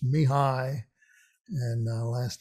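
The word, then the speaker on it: Mihály: um english version is michael in hungarian it's mihai so the ly again is like could i it's me hi and uh last name is domiyan all right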